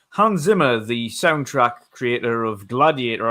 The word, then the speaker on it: Hans Zimmer: Hans Zimmer is actually how you pronounce it properly.